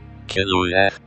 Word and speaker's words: Kilwie: In my search of finding out how to pronounce Kilwie, I discovered that the word is Welsh and means narrow. Kilwie.